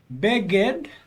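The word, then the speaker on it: בֶּגֶד: So this is an example of two short vowels where you'll accent the syllable before the last syllable. Beged.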